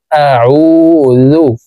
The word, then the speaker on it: أعوذ: কফ লাম পেশ কুল, কুল আউযু, আইনকে হলকের মধ্যখান থেকে চাপ দিয়ে উচ্চারণ করব। আউযু, কুল আউযু, কুল আউযু বিরাব্বিল, এখানে বিরাব্বিল পড়া যাবে না, পড়তে হবে এইভাবে।